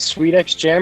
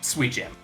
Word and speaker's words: Sweet Jam: Is it Sweet X Jam or is it like Hunter Hunter, where it says Hunter X Hunter, but it's not supposed to be pronounced that way? Sweet Jam.